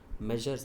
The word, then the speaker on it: Messrs: Measures M bar S, that is pronounced like measures.